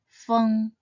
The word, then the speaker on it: 风: Its pinyin is spelled feng, and should be read in the first tone, feng.